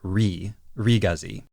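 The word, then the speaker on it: Re-GZ: Gundam from Zeta Gundam in the Japanese it is RI razi I'm might slip up and call it the razi sometimes but it really is re razi I just avoid the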